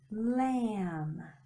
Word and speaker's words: lamb: if you think Oh the B is silent Shh don't don't hear how about this one lamb lamb ends with him